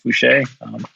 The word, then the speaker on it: Fouché: And by the way, that's Fouché, Fouch, with a little accent on the E.